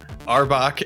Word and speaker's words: Arbok: Firebolt on both Arbok Arbok right am I pronouncing that right yes and it's Cobra backwards oh that's right okay Arbok and uh gassy sphincter